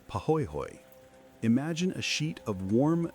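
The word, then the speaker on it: pahoehoe: The first is called pooy hoy, pronounced pahoy hoy.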